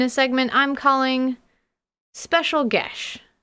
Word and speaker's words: geas: segment I'm calling special gash because we all thought it was pronounced geese and I want to use what Google says is the correct pronunciation rasma is my bestest